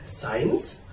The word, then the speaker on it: science: In addition, I cannot pronounce say letter C if it comes after S and followed by vowels, such as science, science, science.